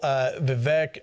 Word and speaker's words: Vivek: We need to at least hit the whole Vivek and Nikki. It's pronounced Vivek.